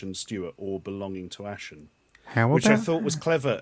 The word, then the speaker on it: Ashen: to the podcast Stuart ashens I'm gonna have to point one thing out though yes I've got my surname wrong okay your surname is Ashen Ashton unfortunately this is